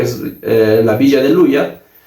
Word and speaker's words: Luya: ya con el español castellanizándose ya se se pronuncia como Luya y de esa manera ya se cambió ya el nombre de Ploya, Aloya y posteriormente a Luya.